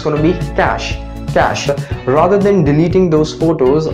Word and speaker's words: cache: Okay, this people pronounce it in a wrong manner, like we say cache memory, but the correct pronunciation of this word would be cache, like the cash we carry in our pockets.